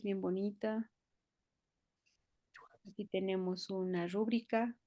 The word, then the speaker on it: rúbrica: Aquí tenemos una rúbrica con acento en la U, gracias a Dios, bien hechita.